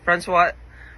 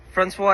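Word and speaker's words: François: And yes Francois Francois is the correct pronunciation of his name.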